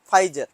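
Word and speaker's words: Pfizer: नाम है फाइजर, P silent.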